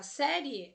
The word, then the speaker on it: série: Veja, eu tenho alguma palavra que a sílaba tônica da palavra série é a sé, palavra paroxítona.